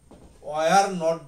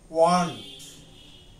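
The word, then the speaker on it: weren't: আর যেটা আমরা ওয়ার নট বলি সেটা হবে ওয়ান্ট, WERENT, এটার উচ্চারণটা হবে ওয়ান্ট, ওয়ারেন্ট হবে না, ওয়ান্ট।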